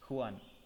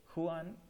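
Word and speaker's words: Juan: the senses the hero of our story is Huan Seto we call him Huan again it's spelled as Ju a n but we pronounce it is Huan Huan he lives in Argentina under a dictatorial regime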